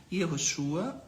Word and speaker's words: Yehoshua: Existe essa pronúncia está na Bíblia hebraica, é a pronúncia hebraica do nome original do Messias, que pode ter uma variante a partir de sinais massoréticos diacríticos, que é Yehoshua ou Yahushua. São duas variáveis aceitáveis no que se refere